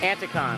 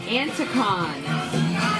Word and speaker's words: Anticon: Now, how do we pronounce this again? Anticon. Anticon.